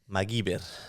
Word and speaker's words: MacGyver: be duct tap and it's pronounced magir that's literally how it's pronounced in Spanish I was a I've